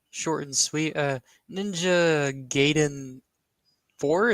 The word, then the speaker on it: Gaiden: and sweet uh Ninja gayen Four isn't that how you say it ninja g n bro don't don't don't correct him it's gayon okay um I the